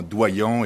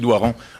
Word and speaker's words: Doiron: J'ai un ami qui s'appelle Doiron et lui aussi, toute sa vie, a fait déformer son nom en Doyon et Dorion. Alors, je voulais le prononcer comme il faut.